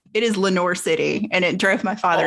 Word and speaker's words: Lenoir City: is spelled Lenoir, which if you spoke French or took any French, you would say Lenoir. It is Lenoir City, and it drove my father insane.